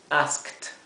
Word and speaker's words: asked: y fíjense que aquí aunque la terminación es Ed esto se pronuncia como si fuera una t una letra T por eso lo he